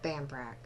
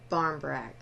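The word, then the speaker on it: barmbrack: And then we have Bambrak. I'm sorry. Barmbrak.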